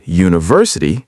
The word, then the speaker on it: university: A university because U sounds like you, a consonant sound, even though U is a vowel letter.